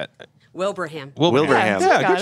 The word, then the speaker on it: Wilbraham: Wilbraham.